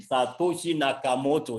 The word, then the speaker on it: Satoshi Nakamoto: Nakamoto, I want to be sure I'm not mispronouncing the name, Satoshi Nakamoto, yes.